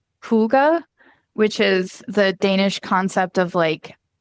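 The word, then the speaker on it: hygge: years out of Japan, or I think it's pronounced Huga, which is the Danish concept of like taking time, even small amounts of time for yourself and for your own well-being.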